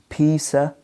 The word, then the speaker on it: of: like of then you they can be reduced into a schwa for example I need a piece of cake then you can prevent you can pronounce the word of here in this case as the weak form not a strong form you can say it as I need a piece of cake Pisa cake okay so here the word